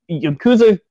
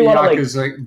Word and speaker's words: Yakuza: The whole series as a whole, the Yakuza can't pronounce it.